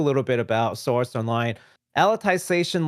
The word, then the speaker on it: Alicization: that's actually Alicization is apparently how this is supposed to be pronounced because it's reference to Alice in Wonderland.